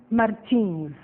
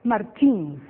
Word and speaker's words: Martins: Pay attention to the different pronunciations of the last name Martins. Okay, I am Brazilian. I said Martins. In your CD, we have some American people, and they said Martins.